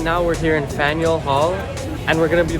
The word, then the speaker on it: Faneuil: Faneuil, how do you say that?